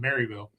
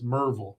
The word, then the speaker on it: Merville: I told my wife to say it right because it's not Maryville, it's Merville. Merville.